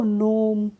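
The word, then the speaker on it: gnome: हमने क्या पढ़ा है इसको नोम इसको हमने गनोम नहीं पढ़ा है क्या पढ़ा है नोम पढ़ा है तो यहां पे भी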